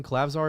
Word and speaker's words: Klavzar: And then they had another guard, I think it's Klavzar, I believe is Urban Klavzar is how you pronounce his name.